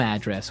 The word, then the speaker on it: address: So different from your home address where you live. Yeah. And there the stress is on the first syllable.